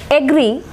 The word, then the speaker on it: agree: agree agreement agree agreement in this word agree the stress is marked on here it is a d syllabic word agree agree stress is marked on the second syllable agree and in the